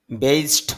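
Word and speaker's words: based: ব্যবহার হয় তাহলে অর্থ হবে ভিত্তি স্থাপন করা বেসড ওয়ান ভিত্তি করে এখানে ডি এর উচ্চারণটা টর মত হয়ে যাবে এজন্য হবে বেস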